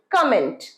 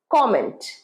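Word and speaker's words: comment: আমরা বলি কমেন্ট, কিন্তু নয়, কমেন্ট, কমেন্ট। কা নয়, ক, কমেন্ট।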